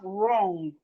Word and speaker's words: wrong: We have wrong. Wrong. The W in wrong is silent.